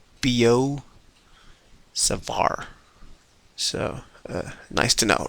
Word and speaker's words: Biot-Savart: uh till today evening I thought it's called biodes of art but then when I referred to the textbook called University Physics by searson zamansky they've written that it's it's pronounced Bo Savar so nice to know